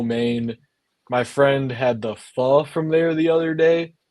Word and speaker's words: pho: it's spelled PHO, like it's spelled pho, but you say pho.